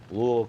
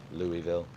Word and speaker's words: Louisville: from Louisville Kentucky actually they say Louisville Louisville Kentucky Louisville it's like two syllables they all just kind of it's like they got a bunch of marbles in their mouth uh I say Louisville